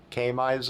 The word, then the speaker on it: KMISE: and it comes from camis k-m-i-s-e i i assume k-mize is how you pronounce it but if you've got